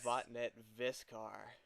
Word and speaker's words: Vattnet Viskar: I've got a guest with me Chris from vet viscar welcome to the show Chris how's it going Jonathan it's going great first I want to make sure I'm pronouncing the band's name correctly as vet viscar yeah yeah that's that's as close as we